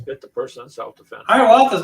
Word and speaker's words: Hiawatha: Hiawatha's not really.